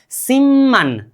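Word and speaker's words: 십만: में म आ गए तो ब का उच्चारण भी म होगा। म का उच्चारण भी म ही होगा। ब प्लस म = म प्लस म। क्या? ब्लस म = म प्लस मतलब अब ये ब का उच्चारण भी हमें क्या करना चाहिए यहां पर म लेकिन नीचे आ जाने वाले हर चीजों का उच्चारण आधा होता है सिमन क्या बोलना चाहिए अब हमें सिमन बोलिए तो सिमन क्या बोलना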